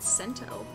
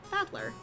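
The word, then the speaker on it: 戦人: This is made up of the characters for fight and person, and it's pronounced Battler.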